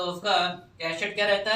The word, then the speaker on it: cachet: एक कैशेट और आता है CACHET, यहाँ पे टी आपका साइलेंट है, यहाँ पे टी नहीं है, और इसका मतलब होता है एक सील होती है या फिर प्रेस्टीज होती है।